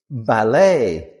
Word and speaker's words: ballet: It's not ballet because again we're still in French words. E is a sound. So, this word is ballet.